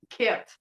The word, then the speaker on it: Kate: It's pronounced Ket.